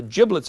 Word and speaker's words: giblet: the rest of the giblets are. And it is pronounced giblet, not giblet. I have a friend of mine who calls these everything but giblets.